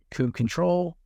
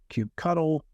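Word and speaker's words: kubectl: to this question but how are you actually pronouncing this first piece here do you pronounce it Cube control Cube cuddle Cube CTL that's the real the real question of the day um so feel free in the chat if you want to try to type out your phonetic explanation of how you pronounce that I'd really be curious because I've I've heard Cube cuddle Cube control and Cube CTL uh and I I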